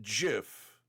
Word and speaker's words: GIF: place and it was because of people who pronounce it Jiff they refuse uh well it is Jiff uh the Creator says it's Jiff so I'm gonna go with the guy who